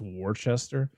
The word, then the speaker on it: Worcester: It's Worcester, but if you look at the word, it's Worcester. That's great. Yeah, and I'm like, Worcestershire that sauce? Is like where are the rest of the letters in this word? Just don't pronounce them.